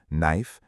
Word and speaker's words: knife: Tip number one, learn silent letter words in small groups by pattern, like the silent K group, knife, know, knee, since grouping by pattern is far more efficient than memorizing randomly.